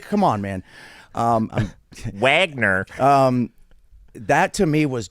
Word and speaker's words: Wagner: in the the the Vagner group it's pronounced Vagner okay don't like come on man um Wagner um that to me